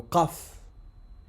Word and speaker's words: ق: Le qaf, sa prononciation, c'est au fond de la gorge.